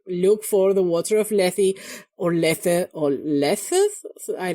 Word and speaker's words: Lethe: Apparently, the water of Lethe, according to Google, that is how it's pronounced, it is from the Greek mythology.